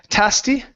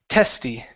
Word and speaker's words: testy: let's see um here instead of tasy this is e t short short e sound T testy testy testy testy good